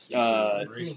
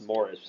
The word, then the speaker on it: Maurice: Maurice Morris. Yeah, Double the way name. that we pronounce Maurice is pronounced, or the word that we pronounce as Maurice is pronounced Morris in Ireland. Morris.